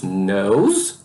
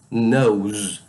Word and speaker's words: nose: Bem, temos nose, nose, nariz. Aí aqui eu quero chamar a atenção, porque se escreve com E, mas esse ele é mudo, ok? Então fica só o som da consoante. Z, nose, nose, nariz.